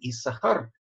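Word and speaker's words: יששכר: и сахара так вот в имени иссахар пишется две такие вот буквы но читается как если бы эта буква была одна это одно из очень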